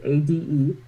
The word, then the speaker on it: Ade: pronounce her name, but it's ADE. Our names are, say it again? Ade. Okay. Our names are Kenya and Ade.